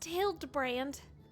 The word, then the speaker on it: Hildibrand: It's pronounced Hildbrand.